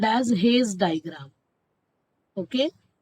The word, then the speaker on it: Hasse: So here we are with a very special type of diagram called as Hayes diagram. Okay. Some people pronounce it as Hasse diagram.